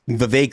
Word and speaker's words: Vivek: Cake Man because it's Vivek like cake.